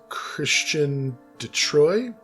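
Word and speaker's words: Chrétien de Troyes: i believe it is christian detroit is how you would pronounce that christianity troy something like that you gotta you always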